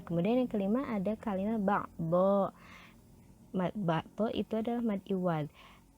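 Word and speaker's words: بعدا: Harusnya kan kalau di sini ba'don ya, tetapi ketika kita berhenti di kalimat ba'don, maka membacanya tidak ba'don lagi, tetapi dibaca ba'dho, panjang 2 harokat, dibaca fathah dan panjang 2 harokat.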